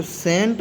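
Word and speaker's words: scent: अगर सी के पहले एस हो तो सी साइलेंट होता है। जैसे सी के पहले एस है तो इसको सेंट पढ़ेंगे।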